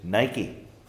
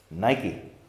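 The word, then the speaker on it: νίκη: in this verse is Nike I pronounce it the contemporary way not not the Greek way Nike victory that's what it's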